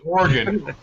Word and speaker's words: Oregon: We pronounce it Oregon.